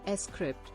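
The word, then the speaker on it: scrypt: litecoin uses a different proof of work power consensus mechanism than bitcoin called script pronounced s crypt which is less energy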